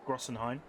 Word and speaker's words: Großenhain: Grossen, not Groben. Großenhain. Großenhain.